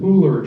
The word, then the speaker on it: Pooler: I was somewhat relieved that we were under contract to purchase a center in Pooler, Georgia. You know what Pooler is? You got to say it like you're from Poo.